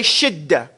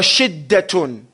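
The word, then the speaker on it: شدة: Everybody say shidda. Shidda. Okay. Now shidda is sheen, dal, tarmabuta. It's pronounced shidda or shiddatun.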